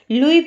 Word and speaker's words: Louis: यहाँ पर जो नाम है लुई ब्रेल, इसमें एस आपको नज़र आ रहा है, लेकिन ये एस साइलेंट है, तो इसे हम लुई पढ़ेंगे।